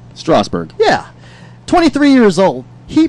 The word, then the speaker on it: Strasburg: Is that the right pronunciation? Strasburg.